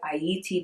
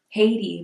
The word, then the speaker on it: Ayiti: And that's why it's called Ayiti to this very day. Pronounced Haiti, right? It's pronounced Haiti by the Americans, but it is Ayiti.